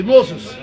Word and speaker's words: Moses: Moïse, nous on dit Moïse, mais on prononce, le vrai nom c'est Moses, Oui. comme disait là, Moses.